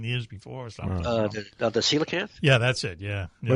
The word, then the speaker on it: coelacanth: The coelacanth? Yeah, that's it, yeah. What is it called? The coelacanth. It's spelled really weird. It's like a P-S-Y. C-O-E. Oh. But C-O-E is pronounced C.